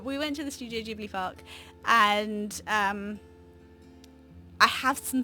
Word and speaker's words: Ghibli: stuff out in Japan and I know it's pronounced Studio Ghibli don't come for me in the comments it's just as a child you were raised calling it sudokibly because you watched it on Channel 4 and